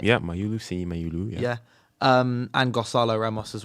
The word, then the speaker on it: Mayulu: Have I pronounced that right? Yeah, Mayulu.